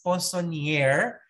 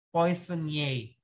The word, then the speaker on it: poissonnier: Ang spell niya, ang ano niya, sa spelling niya is poissonnier, but you pronounce it poissonnier.